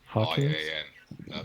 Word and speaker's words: Hawkinsian: Hawkins. I-A-N. I-A-N. There's more. There you are. Okay. Hawkins. Kobe, could you help? Hawkins. Yes, mate. Hawkinsian. That's how I pronounce it. Perfect. I'm British, so, Hawkinsian.